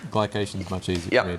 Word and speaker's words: glycation: uh glucos glucos ification glucos or gation G glycation is much easier for me to say so